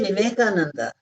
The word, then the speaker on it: Vivekananda: They say They don't say V, they say B. Vivekananda. They say Vivekananda.